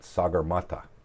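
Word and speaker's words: सगरमाथा: Mount Everest in Nepal and in nepales they pronounce it sagur mat and uh I've had the opportunity to go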